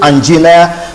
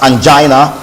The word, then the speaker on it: angina: cardiovascular diseases which includes stable angina or other some pronounce it as angina unstable angina myocardial infraction